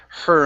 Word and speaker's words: her: right let's work on the word her instead of here okay soft H don't push it as hard okay so it's she